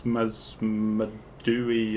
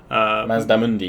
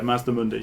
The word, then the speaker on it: Mazdamundi: So one of the legendary lords, Mazmadui, or I'm going to butcher some pronunciations. Mazdamundi. Yeah, Mazdamundi. Sorry.